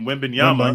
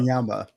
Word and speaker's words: Wembanyama: Wembanyama. Wembanyama.